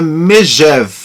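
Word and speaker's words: Megève: mensagem aqui me deve se pronuncia com o som de G como um jato e não DG como um gato e ele é professor de francês então é megeve não é Miguel obrigado aí Jorge essa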